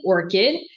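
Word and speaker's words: ORCID: So I'm going to start with orchid uh pronounced like the flower.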